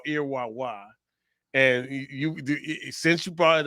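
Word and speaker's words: Erewhon: it's called so it's called Okay so it's pronounced irwan irwan my wife if you guys go check out her Tik Tok it's called earwa and you since you brought it up you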